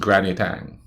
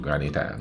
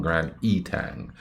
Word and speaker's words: Grand Etang: It's pronounced Granny Tang. At least that's how we islanders pronounce it, Granny Tang, not Grand Etang.